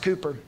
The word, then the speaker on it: Cowper: William Cowper, spelled Cowper, pronounced Cooper.